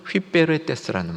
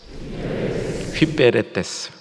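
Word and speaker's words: ὑπηρέτης: 근데 오늘 말씀의 일꾼 했을 때 이 일꾼은 휘베레테스라는 말입니다. 한번 발음을 같이 해보시고 나면 조금 더 기억에 도움이 되겠죠? 한번 따라해 주세요. 휘베레테스, 휘베레테스. 휘파람 불듯이 하면 됩니다.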